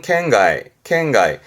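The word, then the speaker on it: 圏外: 그래서 권외, 발음은 켄가이.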